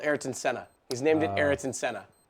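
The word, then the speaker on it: Ayrton Senna: Prix yep it's called eron Senna he's named it eriton Senna nice dude how sick is that it's or hold on hang on ieron Senna let me say it correctly first and foremost to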